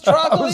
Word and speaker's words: Troccoli: my name but broccoli troli people how do I pronounce troli just like broccoli no way the song's